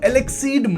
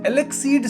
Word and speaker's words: Eleceed: जी हां, मैं बात कर रहा हूं एलेक्सीड मानवा की। मतलब यही प्रोनन्सिएशन होता है।